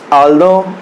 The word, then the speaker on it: although: सकते हैं लिखा हुआ, इसे हम दो और इसे हम ऑल्दो ही पढ़ते हैं। ये आप ध्यान दीजिएगा प्रोनाउंस के हिसाब से, ये यानी कि था नहीं, वहाँ पे द आएगा।